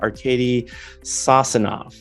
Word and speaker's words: Arcady Sosinov: Arcady Sosinov.